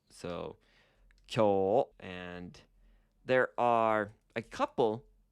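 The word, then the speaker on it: きょ: And technically, it's a long O sound written with an U. So, kyo.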